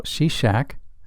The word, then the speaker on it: Shishak: Another major military conflict involved Pharaoh Shishak, whose name is pronounced Shishonk, in the 10th century BC.